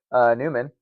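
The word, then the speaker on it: Nyman: It's N-Y-M-A-N. Let's sing the kid's praises instead of talk him down. You think it would be Neiman.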